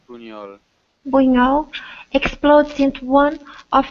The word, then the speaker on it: Buñol: And Uno, Uo, I don't know how to pronounce, Alright, it's Buñol.